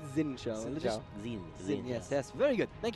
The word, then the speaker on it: Xin Zhao: Am in all Singapore, so I best get the pronunciation right. Is it Xin Shao? Is it bad? No, it's Xin Shao.